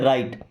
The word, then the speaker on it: write: देखिए यहां पर डब्ल्यू साइलेंट है। क्या पढ़ते हैं? राइट।